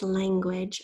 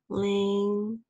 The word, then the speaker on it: language: So the word is language. Our first syllable is lan. It's kind of hard to hear that NG sound. Lang-gu.